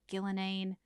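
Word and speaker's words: Ghilan'nain: This one looks like Gillenane.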